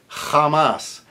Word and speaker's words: jamás: So that's a j as in Bach, a hard j, which is spelled in IPA as an X, written as an X. So if you're doing Castilian Spanish, you want to do those really hard, guttural.